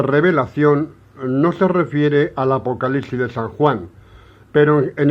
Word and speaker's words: Apocalipsis: se cita esta palabra se dirá Apocalipsis, se pronuncia Apocalipsis, porque esa es la palabra exacta en la lengua koiné ni griega para revelación, ¿de acuerdo?